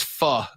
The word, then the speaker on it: pho: That's pho, by the way. I've heard it pronounced pho.